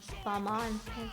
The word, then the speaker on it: Balmain: also very at out it's not Bal balma balma I know there's a lot of people that were saying Bain um Balman like French um pronunciation what do you guys